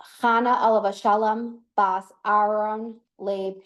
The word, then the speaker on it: Chana: So it's pronounced Chana Alav Shalom Bas Aaron Leib Sheyechia.